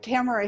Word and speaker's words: Tamara: special woman named and I'm probably going to mispronounce it because I never heard your name spoken camera yes Tamara yeah camera Hunter and Tamara is a cancer